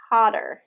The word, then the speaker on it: hotter: So like the name of the letter is O, but the sound is ah. Okay, harder. Hotter. Yeah. So get that R at the end.